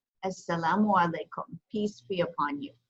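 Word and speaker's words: السلام عليكم: So it's pronounced Assalamu alaikum. Assalamu alaikum.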